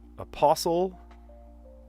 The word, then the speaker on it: apostle: Apostle in English does not have a t sound, but uh in Portuguese, the other language I speak, aposttolo, yes, you do pronounce the t sound.